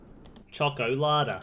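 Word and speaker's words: Schokolade: sorry I blew that choco Lada yeah German it's just pronounced the EES at the end exactly the same word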